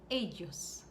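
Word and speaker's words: ellos: so you familiar remember the double l tends to have a y sound in spanish particularly mexican spanish uh there are other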